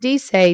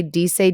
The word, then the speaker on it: dice: aya di say d-i-c-e i know it looks like dice it's pronounced d say d say d say d say